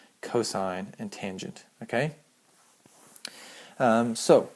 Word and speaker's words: cosine: Um they're still pronounced even when they're written like this. They're still pronounced s, cosine, and tangent.